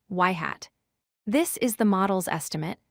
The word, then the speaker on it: ŷ: We denote this with the symbol y circumflex, which is pronounced y-yhat.